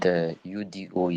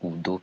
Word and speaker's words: Udo: The word UDO is pronounced as Udo, peace in Igbo language now, not Udo.